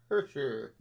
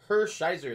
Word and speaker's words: Hershiser: After that, next up, gonna have 47 of 49, and that is Aurel Hersher. There you go, yeah, butchered that name, there you go. Hershiser, there you go. That's better. Alright, so the relic, 47 of 49 from Los Angeles.